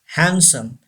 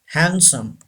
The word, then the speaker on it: handsome: handsome say this word handsome you know D is silent in this word we don't pronounce the handsome say this word handsome number seven and yes